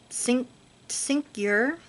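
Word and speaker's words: Tsynq Yr: His name is Syncyr. It's spelled T-S-Y-N-Q space Y-R. So they can't really fully pronounce his name the way it's meant to be pronounced, and they think it's funny that it sounds like Stinker and he's in the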